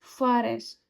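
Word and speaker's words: fährst: ए उमलाउट फ जैसे ए का प्रोनंसिएशन क्या होता है? आ होता है और इस ए उमलाउड क्या होता है? ऐ फरे फ रे एंड जो हमने सीखा था वो क्या है?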